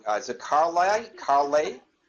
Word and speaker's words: Carleigh: Is it Carleigh? Carleigh? It's Carleigh. Carleigh, like Carly Simon.